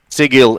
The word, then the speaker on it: Sigil: lord there it is correct sigil is the actual pronunciation it's canon confirmed by chris perkins so what was the